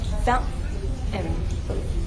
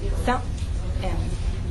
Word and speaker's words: fountain: Now hold your breath in the word fountain, fountain, and now say it faster. Fountain. That's the glottal stop.